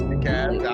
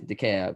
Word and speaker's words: DeKalb: Also, if you're ever in Atlanta and don't pronounce it DeKalb, the L is silent. It's DeKalb. They get mad about it. It's DeKalb.